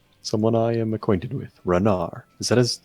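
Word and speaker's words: Renaer: perhaps with um someone i am acquainted with renar is that is said how you pronounce it rainier rainier yeah i'm acquainted with the rainier and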